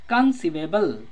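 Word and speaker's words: conceivable: कंसीवेबल, कंसीवेबल में भी सी को स प्रोनाउंस किए तो ई आई लगा, कंसीवेबल का मतलब होता है विश्वास योग्य।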